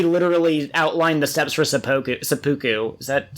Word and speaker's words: seppuku: Is like, he literally outlined the steps for seppuku. Is that seppuku, how's it pronounced?